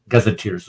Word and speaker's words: gazetteers: Byzantine Empire called gazetteers gazers gazers is how you pronounce it and these were descriptions